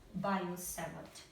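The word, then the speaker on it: Biot: let me say by bio okay bio seate this T is silent okay so it's written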